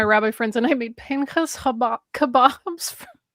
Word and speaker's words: Pinchas: This is a follow-up to their comment that they still pronounce it as Pinchas. The way it's written in Hebrew. Partially because one of my rabbi friends and I made Pinchas kebabs for 1 year for that particular reading.